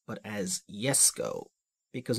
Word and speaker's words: Jesko: is not pronounced as Jesco but as yes go because in Germanic languages the J is basically a y and this car is